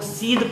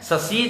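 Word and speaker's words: scythe: एस सी वाई टी एच ई को हम लोग सीध पढ़ते हैं, ससीद या स्कीद नहीं पढ़ते।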